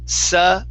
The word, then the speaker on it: sudden: right now you are you are pronouncing it like this with an n here and you need to remove that n okay so instead of sun then it's sudden okay so yeah check